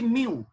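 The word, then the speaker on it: μ: তো এখানে দেখো আমাদের সূত্রটা হচ্ছে ঘর্ষণ বল, যার সূত্র হচ্ছে মিউ ডাব্লিউ, উচ্চারণ হচ্ছে মিউ, যেটা আমরা ছোট হাতের ইউ এর মতো লিখবো কিন্তু সামনে একটু লেজের মতো একটু বাড়ায় দেওয়ার চেষ্টা করব, মিউ।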